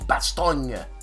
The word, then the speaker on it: Bastogne: I should say, yeah, they'll pronounce the vowel at the end, so it's Bastogne.